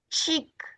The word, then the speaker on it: cheek: Donc, lorsque vous voyez CH en anglais, c'est ch. Donc, CH, c'est ch. Watch, watch, cheek, ch, ch. Donc, évitez de prononcer cela avec sh.